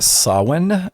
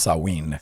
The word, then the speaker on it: Samhain: Sometimes you'll hear it pronounced Samhain, or it's actually more accurately pronounced Samhain.